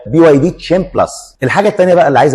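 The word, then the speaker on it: BYD Chin Plus: لاسم العربيه لان العربيه في ناس بتقول عليها كين لكن النطق الصحيح ليها هي بي واي دي تشين بلس الحاجه الثانيه بقى اللي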